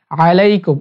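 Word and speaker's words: عليكم: আসসালামু আলাইকুম আসসালামু আলাইকুম আইনটা হলকের মিডিল থেকে হবে আলাইকুম অনেকে আসসালামু আলাইকুম বলে এটা ভুল উচ্চারণ আসসালামু আলাইকুম আসসালামু আলাইকুম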